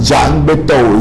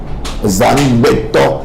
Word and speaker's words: Zangbeto: Zangbeto, not Jangbeto. Zame, night. Zangbeto. Yeah, that's the correct spelling. That's the correct pronunciation. Zangbeto, not Dangbeto, and not Tangbeto or Jangbeto. Za as night, Beto as in person.